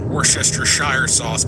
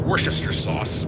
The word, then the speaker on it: Worcestershire sauce: I know that some people look at how it's spelled and they think it's called Worcestershire sauce, but no, it's it's pronounced Worcester sauce.